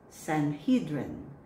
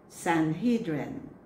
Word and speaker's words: Sanhedrin: The word is Sanhedrin. Sanhedrin.